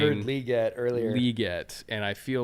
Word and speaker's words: Legette: it's hard though because we've been saying Legette for four straight months and now we need to say liette um but we do